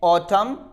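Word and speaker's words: autumn: After M, अगर एन आता है एम के बाद या फिर इन द एंड तो हम यहां पर एन को प्रोनाउंस नहीं करते हैं। ऑटम, column, him, डैम।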